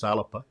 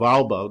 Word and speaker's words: Alba: other assets i mean now i've learned to pronounce it properly is alipa it was pointed out that my scots pronunciation of alba didn't the the garlic speakers of scotland so